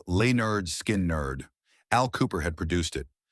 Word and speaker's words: Lynyrd Skynyrd: Pronounced Lynyrd Skynyrd.